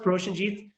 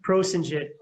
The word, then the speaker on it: Proshenjit: It's pronounced Proshenjit, but in the West they Or would Shinjit. pronounce it Prosenjit.